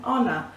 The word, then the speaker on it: honor: we don't pronounce the H because it's silent it's mute so use an honor okay - it was an